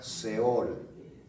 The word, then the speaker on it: Seol: La palabra Seol se escribe S-E-O-L.